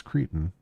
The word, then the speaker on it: Cretan: solely on his massive Cretan? No, it's I'm pronouncing that wrong, right? It's Cretan. Maybe.